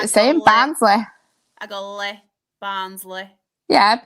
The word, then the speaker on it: Barnsley: You can take the mick out of me saying Barsley too. Ha. Barsley. It is Barnsley. It's the way I say it. I say it the same. Barsley. I go Barnsley.